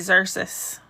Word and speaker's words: Xerxes: Sometimes I say it right, Xerxes. Sometimes I say it wrong.